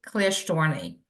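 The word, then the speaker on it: Klyashtorny: of course chairman uh my name is Natalie clar storney k l y a s h t o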